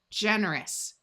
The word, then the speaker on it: generous: While most of the time OU has a sound of ow, when it's part of this suffix, it sounds like a short U. So this is us, generous. Notice the soft G sound of J because of the E.